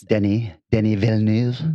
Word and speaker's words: Denis Villeneuve: asked about that casting and what I always mispronounce his name, but what the director said is Denis Villeneuve.